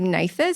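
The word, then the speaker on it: NatHERS: as well Energy assessment It's called Nathther I'm not may not pre pronouncing that correctly but it's n a t h e r s and that's a nationwide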